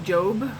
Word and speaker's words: Job: want face like job is it job or job I know like it's spelled j-o-b so job but I think I've always pronounced his name Jobe but yeah he lost